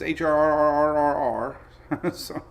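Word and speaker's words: HRRR: look at the latest hrr R rrr somebody asked how do you pronounce the HR r r r r r and I'm like well like a pirate HR r r r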